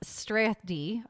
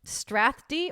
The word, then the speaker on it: Strathdee: I didn't even know how to spell Canadian or pronounce Strathdy or Strathdy. What do you think? It's just ATH. STRATHDEE. I would say so Strathdy.